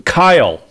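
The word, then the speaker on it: X Æ A-12: X is the Greek for chi, as right. In like chi, beta, like whatever. Sigma chi. Yep. Yeah. AE is pronounced AI, as in the AI of Kyle, the Y. Yep, like chi. Yeah. Right. The A12 is the 12th letter of the alphabet, which is L.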